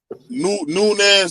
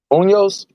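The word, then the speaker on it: Muñoz: Nunez that played for the Bengals. Munoz? Unos, yeah, so I said his name wrong.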